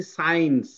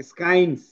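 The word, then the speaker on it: science: এস এর পরে সি থাকলে সি টা সাইলেন্ট হবে। মানে এস সি যদি এভাবে থাকে সি টা সাইলেন্ট হবে। এই সি টা সাইলেন্ট হয়েছে এইজন্য কিন্তু আমরা এটাকে পড়তেছি সাইন্স। না হলে আমরা কিন্তু কি পড়তাম স্কাইস।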